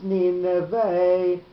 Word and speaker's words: Nineveh: You see, when we've got the word with the two notes on it, it's Nineveh, and when we've got it just with a tipcha, it's Ninveh. So that's why he did